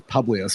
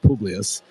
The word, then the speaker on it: Publius: I thought it was Publius, but he pronounces it Publius.